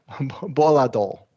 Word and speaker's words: volatile: Now these are some outliers where it's going to be a reduced vowel sound and also flap T's for all of them.